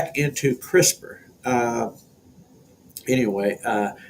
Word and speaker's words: CRISPR: space short palindromic repeats or crisper pronounced like your vegetable door uh crisper popped up